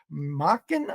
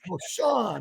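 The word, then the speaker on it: Marchon: You used to be the VP of Global Operations for Macken Eyewear. Did I pronounce that Marshall. correct? Marshall. Marshawn, of course. That's much better. In Phoenix, we say Macken, but Right. it's Marshawn Eyewear.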